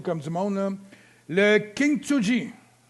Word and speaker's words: Kintsugi: du monde, là, le Kintsugi. Non, pas King, c'est même pas un G, c'est un T. K-I-N-T, Kint.